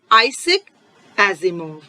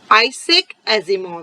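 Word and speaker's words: Isaac Asimov: बच्चों हमने स्टार्टिंग में ही डिस्कस किया, उसके ऑथर हैं आइजैक एजिमोव। आइजैक एजिमोव, सभी बच्चे मेरे साथ प्रोनाउंस करेंगे, आइजैक Asimov.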